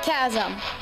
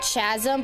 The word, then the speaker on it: chasm: we did the Giant Chasm yeah a lot of people pronounce it Chasm but it's Chasm I don't even know